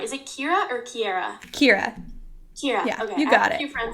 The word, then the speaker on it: Keira: Keira.